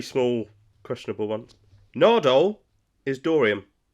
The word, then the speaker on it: Dorium: I'm not See, I'm not invested in Deloreium. Deloreium. How do you spell it? How do you say it? Dorium.